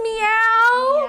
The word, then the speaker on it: MEOVV: Is this meow? Meow. Meow. Okay. How are you supposed to pronounce it? Meow. Meow. Okay. It's not moo.